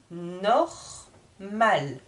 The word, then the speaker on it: normal: Normal. J'insiste sur le R ici. Normal. Et sur la consonne finale, le L. Normal. À vous de lire maintenant. La lune. Un menu. La nuit. Normal.